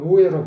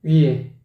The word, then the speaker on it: 위에: 초원 위에죠? 근데 초원 우에로 발음하고 있어요. 초원 우에가 아니라니까 위에지, 위에. 입술을 부지런히 움직여줘야 돼. 위에, 우에, 아니고 위에.